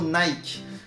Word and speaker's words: Nike: pourquoi nous du coup on devrait forcément prononcé sa nike ici même les anglophones ne sont pas d'accord j'espère que vous avez